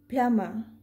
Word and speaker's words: plumber: the root word and since m and b are at the end of a syllable so we will not pronounce b here same like in common